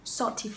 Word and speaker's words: salt: Chữ này được gọi là dark L. Thì khi các bạn phát âm chữ này thì lưỡi các bạn bể lên trên.